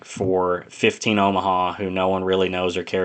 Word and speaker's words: Omaha: John's holding off Omaha. I keep mispronouncing it. It's Omaha.